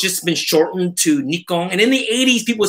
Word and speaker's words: Nikon: just with the e and it's just only americans north americans that say nikon it is nikon correctly so me being japanese i'm not going to say it wrong because it's like making